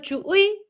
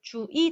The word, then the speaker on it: 주의: 첫 음절 이외의 의 같은 경우는요. 당연히 의 발음도 되지만 뭐도 된다고 했죠. 이 발음도 돼요. 그래서 주의, 주의 다 돼요. 그리고 얘도 민주주의 둘 다 된다고 그랬죠.